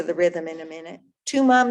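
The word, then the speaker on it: Thuma: And the words to this song are Tuma. It's spelled T-H-U-M-A for those of you who need to have that visual in front of you. But Tuma, Mina, M-I-N-A, Mina.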